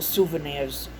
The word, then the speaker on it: souvenirs: No matter where you go, souvenirs are always, well, souvenirs is the correct pronunciation.